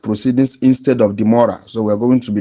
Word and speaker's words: demurrer: Demurrer is spelled D-E-M-U-R-R-E-R, demurrer.